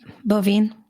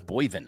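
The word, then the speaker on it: Boivin: I thought it was Boyvin. I've always said Boyvin. He's never corrected me. Phonetically, you're correct. Okay. But then and I've been calling him Boyvin for 3.5 years until I went to SCN and heard it pronounced properly.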